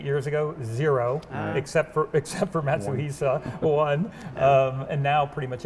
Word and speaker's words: Matsuhisa: So with that, Andreas, I want to thank you so much for hosting us here, and pronounce it for me so I get it right this time. Matsuhisa. Matsuhisa.